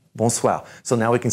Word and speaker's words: bonsoir: this is bull SWA are in the back bonsoir bonsoir so now we can say it we rule